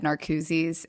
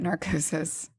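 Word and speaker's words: Narcoossee: it in Google, and I said Narcooses, and that is what Disney's. It did come up like that. So that's how you pronounce it. Listen, I wouldn't have known just reading it. I just heard it. Like watching. Do you know how many times I've called it narcosis?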